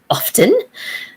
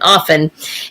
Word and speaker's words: often: i was in school we were told very definitely that the t is silent and often and uh and it